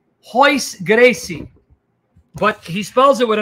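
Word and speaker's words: Royce Gracie: pronounced h so like hois gracie but he spells it with an r royce so the r is pronounced as an h gracie you know who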